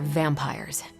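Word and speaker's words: vampyres: The new breed I'm tracking are, they're vampires. I see. No, I do not. You already said they were vampires. Vampires with a Y? Pronounced exactly the same as vampires.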